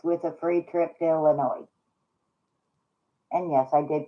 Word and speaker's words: Illinois: Robert, there's only a few problems with a free trip to Illinois. And yes, I did pronounce it correctly.